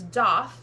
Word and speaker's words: daith: root word being Hebrew the pronunciation that she came up with was doth spelled d-a-i-t-h however I can see why some would look at that spelling and think that it would be daith rhyming with faith this